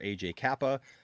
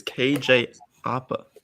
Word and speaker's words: KJ Apa: along is riverdale star aj kappa uh and uh oppa what what they say his name wrong it's kj oppa that's what he said he said aj kappa it says aj kappa